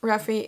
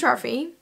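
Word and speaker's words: Raffe: I don't know so my brain immediately is just like roughy and it's how I've been calling him a phrase and ever since I started reading the book so his name is Rafi apparently so anyway Rafi is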